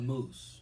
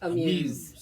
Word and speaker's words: muse: A moose, right? Or how do you pronounce muse? Amuse. Amuse. Yep. M-U-S-E. Yep. Amuse, Yep. right? Mhm. So not a moose.